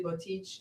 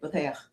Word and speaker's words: Boteach: I came in on Facebook, but I never pronounced the guy's name right, but Shmuley Botich, is that his name? Boteach.